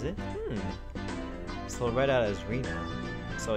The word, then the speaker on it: Rena: So read out as Rena.